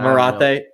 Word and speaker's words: Marathe: Is it Marathe or Marath? I don't even know at this point. I say it the way that you said it the first time. But Marathe. There you go.